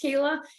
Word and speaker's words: Kayla: It's spelt funny, but I promise you it's pronounced Kayla, and I'm happy to work with you kind of throughout this time.